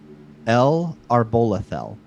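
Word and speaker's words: El'Arbolethel: our bol uh let me make sure i pronounce it correctly um l arbolethel um so it's e-l and then with a um an apostrophe and then capital a r-b-o-l-e-t-h-e-l so l are bola fell and it means home of the god tree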